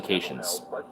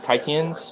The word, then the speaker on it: Caitians: Well, the first OG Furfag species was the Caitians. I thought it was the Kaitians, but I found out that the pronunciation is Caitian.